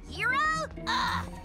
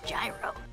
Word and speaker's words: Gyro: Gee, it's pronounced hero? People! I'm pretty sure it's Gyro.